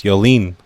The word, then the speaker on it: Yoline: When I pronounced my name to her, I did not say it had a diacritic mark over the first E. You know, in French, there's a diacritic mark with a backward slash on the E.